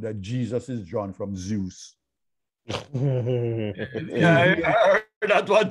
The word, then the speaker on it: Zeus: Z-E-U-S is not Zeus. It is Zeus because it is Greek derived and it maintains the Greek pronunciation Zeus rather than Zeus.